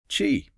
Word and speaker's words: qi: It moves from raw energy or circulation to the holistic concept ofqi, pronouncedqi, chi, right?